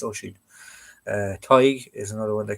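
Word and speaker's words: Oisín: Oisin and everything they call him, it's Oisin. Tig is another one they can't pronounce.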